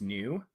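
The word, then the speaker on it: Neue: There's also Bebas New, but the new is in French, so it's N-E-U-E.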